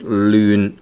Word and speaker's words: 亂: And normally this word is pronounced as 亂. Which is fifth tone, but then sometimes you can use 亂 second tone. Right, so sometimes you can use second tone, sometimes you can use the fifth tone.